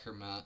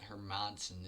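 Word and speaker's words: Hermansson: there proving a statement jack herman hermson is actually how you pronounce it i think he's on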